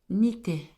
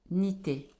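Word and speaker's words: Nithaiah: L'ange de ce 11 septembre pour la communauté Marie Fatma, c'est l'ange Nité, Nité, N-I-T-H-A-I-A-H. Cet ange, comme l'ange Yehiel plutôt, comme l'ange Yehiel qui s'écrit et I-A-L-E-L.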